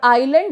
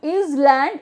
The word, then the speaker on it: island: Okay, for island also it is not is land, it is island. S is silent.